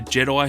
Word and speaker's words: J-3D1: There's then a Wookiee by the name of Groz, a Jedi who is actually a droid, and his name is literally just Jedi but spelled like J-3D1, like a typical droid name, which I thought was pretty funny.